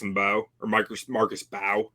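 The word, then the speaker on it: Mbow: I really like Marcus Bow. That's how it's pronounced. Or Bow. I think it's just Bow.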